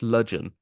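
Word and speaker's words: Ludgvan: This is a place in Cornwall, and this is pronounced Ludgeon, right? But you've still got the V there, right? So you've still got this. The DG makes this J sound.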